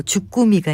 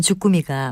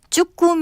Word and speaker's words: 주꾸미: 맛과 영양이 으뜸이라고 합니다 일반적으로 단어의 첫 소리를 강하게 발음 하려는 경향 때문인지 추 꿈 이라고 발음하고 쭈꾸미 로 쓸 때가 많은데요 이것은 표기도 주꾸미 로 하고 발음도 주꾸미 라고 하는 것이 맞습니다 생선 이름 가운데 우리가